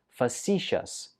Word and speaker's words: facetious: tricky pronunciation it's pronounced facetious foreign stress goes on the second syllable we use facetious when